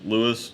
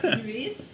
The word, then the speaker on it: Luis: Did I pronounce that right? Close enough. Louis. Lewis. Okay. Yeah, makes me less Hispanic, I guess. Okay. Yeah. Luis?